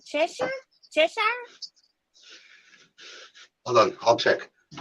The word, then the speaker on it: Cheshire: to check the comments so she's in chess c-h-e-s-h-i-r-e cheshire cheshire hold on i'll check inside i'm sorry